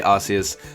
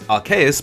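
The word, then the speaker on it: Arceus: two you can pick I always used to say arus apparently the correct pronunciation is araus but you know what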